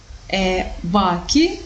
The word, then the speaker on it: bachi: Bachi we transform in baci. Baco è silkworm. Bachi it's a plural, silkworms. And baci it means kisses. So despite the fact that the letter H is not pronounced, but it changes the meanings of the words.